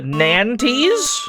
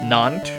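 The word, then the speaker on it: Nantes: We're headed to Nanties. That's probably not how you say that. Where the hell is that? That could be anywhere. get to buy a railroad for 150. It's French is pronounced non.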